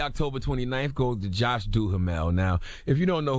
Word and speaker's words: Duhamel: Listen, man, we need Josh how you pronounce his last name? Duhamel.